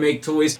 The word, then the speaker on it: Maketoys: video is going to be very long because make toys has a very long history and a lot of people have asked for a past president future on make toys so it's time I get it it's time